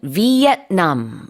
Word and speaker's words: Vietnam: 참고로 베트남 이 단어는 영어로도 삼음절이긴 한데 베트남이라고 하지 않고요. 영어로는 Vietnam 이렇게 발음합니다.